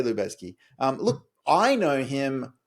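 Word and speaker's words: Lubezki: um, it could be I've always said Libaziki, but I think that's wrong now looking at it. Like, you know, Lubeski. Okay. Um, Lubeski. Let's say Lubeski.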